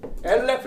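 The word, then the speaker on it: אלף: 그걸 알레프라는데 발음상은 엘레프 이렇게 쓰는 것뿐이에요.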